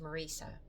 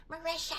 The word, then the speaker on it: Marica: My real name is Marica. And Sabanzo, if you're watching this, can you please pronounce it correctly because I'm tired of hearing you calling me Marishia.